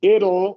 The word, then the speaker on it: it'll: And then it'll, which is very common, like little.